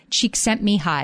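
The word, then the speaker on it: Csikszentmihalyi: I'm going to pronounce his name carefully. His name is Myle Cheek sent me high.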